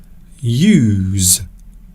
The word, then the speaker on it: use: In this situation, we are pronouncing it as use.